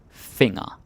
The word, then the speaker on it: finger: finger finger okay but it's important you pronounce it differently yeah it's the same spelling as in English but the G is what I call a Shanghai ji and you have the n and the g together it's like fing like